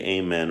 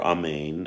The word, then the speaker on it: amen: listening to this blessing you should say amen or amen as it's pronounced usually in the hebrew then when you should